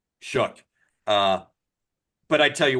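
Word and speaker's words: Shough: I see why he started over over Tyler Schllock. Um, Schllock, I can never pronounce his name properly. But shook.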